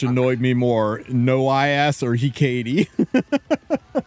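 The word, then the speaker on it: Hecate: I just they don't pronounce the H, right? Yeah. Yeah. It's there's apparently the H is silent. It's like ecate ecate or ecati.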